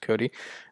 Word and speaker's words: Kodi: It's actually referred to as Kodi now. Kodi, though, I don't think it's pronounced KODI. It's just Cody.